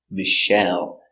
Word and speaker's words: Michelle: ice cream very good the name Michelle comes from French so we pronounce it Michelle Accent on the second syllable Michelle Michelle Obama was